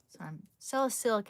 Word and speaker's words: salicylic: Salicylic acid, that's how you say it.